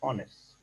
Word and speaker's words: honest: anyway it is silent when H is silent then it comes with n for example we don't